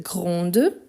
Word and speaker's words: grand: qu'ici on a petite grande féminin on prononce le T et le D à la fin petite grande ici on ne prononce ni le D ni le T grand petit ensuite on a personne